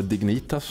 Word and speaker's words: Dignitas: experience from different areas Not least Dignitas, or Dig-Niitas as you pronounce it How does all this work?